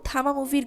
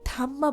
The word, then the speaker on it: Thamma: নেয় তো এই ছিল থামা মুভির গল্প শেষে একটা কথা বলে নেয়া ভালো যে অনেকেই এই মুভিটার নামকে থাম্মা বলবেন কিন্তু এটার রাইট প্রোনাউন্সিয়েশন হল থামা যাই যাই হোক ব্যক্তিগতভাবে বলতে গেলে থামা একটি এভারেজ রেটিং এর ফিল্ম।